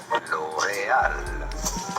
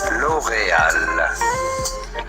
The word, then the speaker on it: L'Oréal: L'Oréal. L'Oréal. Yeah, damn. It's not L'Oreal. It's L'Oreal. The R is supposed to be pronounced as H.